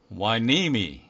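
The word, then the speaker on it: Hueneme: 이거를 후에네메라고 발음이 될까요? 아니면 휘님이라고 해야 될까요? 그런데 실제 발음은 와이니미 이렇게 발음이 되고, 두 번째 있는 낱말은 영국 런던의 중심을 흐르고 있는 강의 이름 템스입니다.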